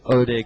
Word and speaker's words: Hodei: be the 551 that ode wants and uh thank you very much to some of our Spanish speakers writing in and uh telling us not to pronounce the h in in oday's name